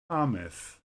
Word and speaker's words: Thomas: both theater all right in names th is sometimes pronounced as t such as Thomas the river temps in